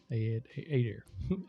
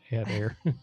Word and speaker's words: Adair: Also for the missus, the last name is pronounced like putting air in the tire. Adair. Add air.